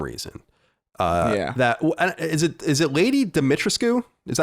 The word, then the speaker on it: Dimitrescu: That is it Lady Dimitrescu? Is that how you say it? I think it's Lady Dimitrescu.